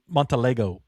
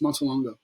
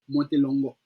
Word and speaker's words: Montelongo: I can't Montlego. Yeah. A lot of people say it like that too. So I'm just like give us the per the correct pronunciation. Oh, it's just Montongo.